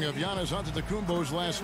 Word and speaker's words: Antetokounmpo: In the Jewish way, you gotta say it with a D, so it's Antetokounmpo. But in the Greek way, you say it with an NT, like Antetokounmpo.